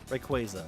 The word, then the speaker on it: Rayquaza: Like Rayquaza uh is it quazar quaza? Quaza Rayquaza, right? Cuz it's like a quazar.